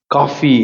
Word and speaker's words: qoph: ஆக்சுவலா காஃபி எப்படி சொல்றோம்? கப். அப்போ அப்படி சொல்ல மாட்டேன், புரியுதா? காஃபிக்கு எப்படி ப்ரொனவுன்ஸ் பண்றோம்? காஃப். அப்படி ப்ரொனவுன்ஸ் பண்ண அறிவிக்கணும்.